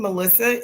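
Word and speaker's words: Malysa: Actually, I tell people my name, Melissa. M A L Y S A. If you flip it around, pronounce it again.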